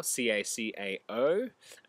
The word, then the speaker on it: cacao: So if a recipe says cacao, C-A-C-A-O, it's not a spelling mistake, and it is pronounced cacao.